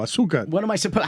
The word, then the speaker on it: Azúcar: It's this beautiful stretch with Ball and Chain, with Azúcar, this amazing locally owned Azúcar. You say it like a gringo. Azúcar.